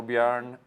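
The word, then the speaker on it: Björn: have a Swedish name uh Bjorn yeahor so beorn if you pronounce the Swedish as beorn it's with the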